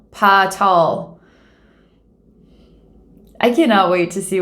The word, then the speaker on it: Paa Taal: going to be visiting potts tall that's how we pronounce it i don't know